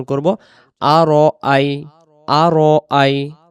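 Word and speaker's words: أَرَأَيْتَ: আরজি এই শব্দ যেন আড়াই তাল্লাজি উচ্চারণ না হয় আড়াই তাল্লাজি উচ্চারণ করলে র অক্ষরে জবরে মোটা হয় র বলতে হবে আর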